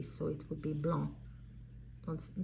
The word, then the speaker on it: blanc: so it would be blond don't don't pronounce the C BL so so it